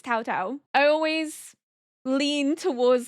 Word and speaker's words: Cao Cao: Dynasty Warriors who I would have called Cao Cao and it's spelled c a o. It's actually Tao Tao. But I never would have known that. I innocently in my head was like Cao Cao. It's not Cao Cao.